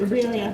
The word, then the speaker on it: birria: Birria, he said it right.